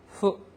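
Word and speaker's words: ふ: 많다라고 하는 거 그다음에 일본어에서 있잖아요 후 바람이 우리나라 사람하고 틀린 것은 우리나라 사람들은 전부 다이 h 발음에 가깝게 후 발음을 하는데 일본 사람들은 정확하게 음으로 발음을 합니다 후 후 그래서 후붓기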